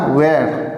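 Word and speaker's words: where: गया है इसे, वेयर, बिल्कुल नहीं दोस्तों, ये वेयर नहीं है, ये है हमारा वेयर। वेयर यहाँ पे एच जो है हमारा वो साइलेंट है।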